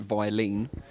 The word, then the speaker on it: Wallin: to be fighting otto i think he pronounced it violin and from sweden in